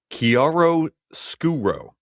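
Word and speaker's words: chiaroscuro: I'm going with this this technique and I had to look up how to pronounce this, but it's Kiaro Skuro.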